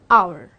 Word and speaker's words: hour: that is why I am gonna say an hour now let's come to the article a a